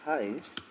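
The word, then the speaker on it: heißt: movie money on netflix so that heist is exactly the same pronunciation for this one the highest to the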